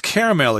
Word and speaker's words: caramel: What's caramel exactly? I think you probably eat a lot of that. Caramel or caramel. They're two pronunciations, but it's sugar and butter that you cook together and it turns brown.